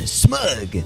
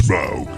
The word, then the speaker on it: Smaug: And I call this one smug. Rhymes with Grug. It's Smaug.